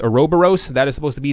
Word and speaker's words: Ouroboros: of all depending on how you want to pronounce it it's either a row burrows or Ouroboros people were mentioning before that they